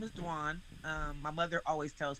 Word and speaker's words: Dwan: yeah my name is dwan um my mother always tells people you know pronunciation wise when you pronounce my name say dwan like swan one syllable so that grew with